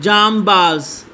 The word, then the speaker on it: جانباز: اعراب سے واضح کریں۔ جام باز، جیم کے اوپر زبر، نون کے اوپر جزم، با کے اوپر زبر اور زا کے اوپر بھی جزم۔ عزت، عین کے نیچے